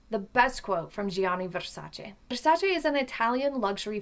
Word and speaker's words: Versace: But the correct pronunciation is Versace. It's Italian pronunciation rolls the RA little bit, puts an emphasis on the A and has a shortstop to that east on the end, Versace, not Versace.